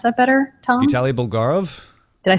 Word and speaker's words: Bulgarov: its designer Vitali bulgarov do you want to pronounce that better Tom Vali bulgarov did I say that right what about the